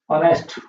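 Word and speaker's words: honest: Silent H से पहले बहुत सारे वर्ड होते हैं, जैसे ऑनेस्ट, ऑनरेबल, ओके, और आवर, एन आवर होता है, आपने लिखा देखा होगा।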